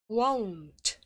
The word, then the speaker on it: won't: won't, won't, won't 에다가 살짝 T 사운드를 넣으면 됩니다. won't 이렇게 won't 이거 아니고요. 으 소리 내지 않고요. won't 이렇게 하시면 돼요.